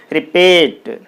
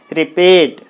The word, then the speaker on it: repeat: is a verb so you put the stress mark on the second syllable like this then it should be pronounced as repeat repeat re should be shortened